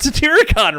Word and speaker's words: Satyricon: You said Satyricon right.